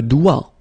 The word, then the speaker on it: doigt: Okay, so don't be frightened by this G because basically you don't pronounce it and then the final T you don't pronounce it. So the only thing you get to pronounce is this combination of three letters, sorry, here, D, O, I, okay? O, I, it's wa and then D, doigt.